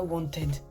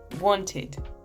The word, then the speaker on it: wanted: savez, dans les westerns, ça se dit pas wanted. No. Wanted. Id. Il y a en réalité 3 façons différentes de prononcer le ED final et aucune de ces 3 façons n'est ed.